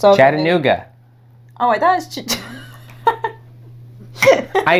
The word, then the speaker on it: Chattanooga: How do you pronounce this city? Chachanga.